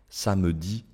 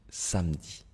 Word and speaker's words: samedi: informel toujours en général ils ne vont pas prononcer le E s'il se trouve entre deux consonnes au milieu d'un mot d'accord regardez un médecin